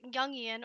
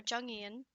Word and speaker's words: Jungian: Because this is Yian or Jungian. I've only ever heard it pronounced Yian.